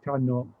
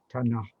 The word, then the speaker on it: tanah: if the first word is tano or tano, meant to mean land, that would be a specifically northeast Malay, Patani or Kelantan pronunciation, not the west pronunciation, which would be tanah.